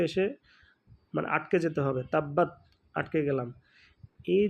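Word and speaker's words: تَبَّ: উচ্চারণেই শেষ করতে হবে যেখানে যদি আমরা থামি তাহলে তা বা জবর তাব বা জবর বা তাব্বা তবে শেষে বা উচ্চারণটা অত বেশি বড় করার দরকার একটু ছোট করে হবে হ্যাঁ তাব্বা এভাবে তাহলে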